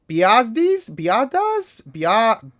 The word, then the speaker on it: Biadasz: And then also this one, Tyler Biadasz, I think that's pronounced Biadasz, Tyler Biadasz.